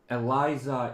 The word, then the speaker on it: Alisa: Gunsman is a uh I in Russian it's Alisa. I think uh Eliza is closer to how Germans pronounce it.